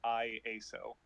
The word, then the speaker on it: Iaso: Oh, by the way, sorry to burst your bubble, but you've been mispronouncing IASO the entire time. It's IASO. That makes so much more sense.